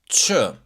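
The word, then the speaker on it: ç: The letter C with the tail in Albanian you pronounce it as ch. Ch. Like the word church or chocolate.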